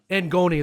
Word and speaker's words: ngoni: Ngoni, that's how you pronounce it, right?